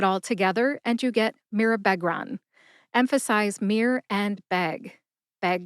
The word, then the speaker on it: Mirabegron: Mirabegron has 4 syllables. That's mir, like a mirror, which is a short A sound or a schwa A sound, Beg, like a dog begs for a treat, and Ron, like Harry Potter's buddy Ron Weasley in the Harry Potter series of books.